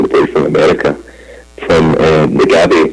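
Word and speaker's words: Nagbe: boy from America, from Nagabe. Is it Nagabe? Is that how you pronounce it? Nagby. Yeah.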